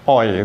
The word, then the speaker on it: hoy: Oi itu ya, jangan hoi tapi oi itu.